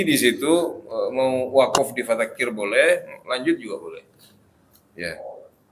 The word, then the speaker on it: فذكر: Perhatikan di sini roknya tipis. Jadi kalau dalam bacaan Al-Quran, kalau ada rok yang seperti ini, rok sukun sebelumnya kasroh atau roknya sendiri berharokat kasroh, maka kita membacanya itu tipis. Fadzakir. Jadi jangan fadzakir.